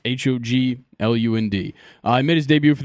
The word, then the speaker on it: Hoglund: 2-time first-round pick, Gunnar Hoagland. Hoagland. You got it. Hoagland. I don't know how to say it. I just know it's Hoglund.